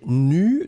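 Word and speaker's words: nues: Le premier, eh bien, c'était nu, donc le E et le S ne sont pas prononcés.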